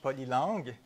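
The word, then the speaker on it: Polylang: there for many years polyline which I only pronounced in French poly long because it's made because it made its made by a Frenchman so it feels better to say it but I long very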